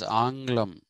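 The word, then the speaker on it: ఆంగ్ల: So in Telugu we say English is Anglam. Angla is the correct pronunciation.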